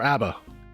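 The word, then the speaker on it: A.B.A: It's pronounced like the band. So Aba or Abba. There we go. Abba.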